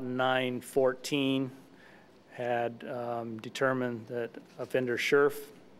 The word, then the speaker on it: Scherf: Staff, by about 9:14, had determined that offender Scherf, that's the pronunciation that I have at this point, it's S-C-H-E-R-F, that offender Scherf was not in his cell in the Washington State Reformatory.